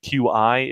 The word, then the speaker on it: Qi: Qi is the QI. If anybody's seen it, it's apparently pronounced Qi because that makes sense.